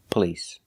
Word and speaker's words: police: Because the stress is on the second syllable. The first syllable is pronounced relaxed.